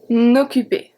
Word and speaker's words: occuper: S'en occuper. S'en, E-N make the sound en. Occuper. O is a hard O, is a close O.